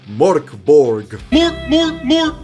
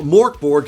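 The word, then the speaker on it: Mörk Borg: list is MB or how most people including myself clumsily pronounce it Mor Borg an absolute phenomenon especially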